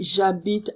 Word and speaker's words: j'habite: allons nous c nous allons d'accord anomone lilloise j'habite moi nous c'est j'habite avec de quoi changer ou habitent eux tu